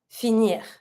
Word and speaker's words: finir: whatever, finishing with R, you always pronounce the R. So here, to finish, finir. And you pronounce the R. The R has to come from the throat, not finir, finir.